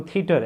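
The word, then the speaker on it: theatre: अब जैसे पीछे हमने वर्ड देखा था थिएटर, अब हम उसको थिएटर बोलते हैं लेकिन इंग्लिश में वो थीटर है।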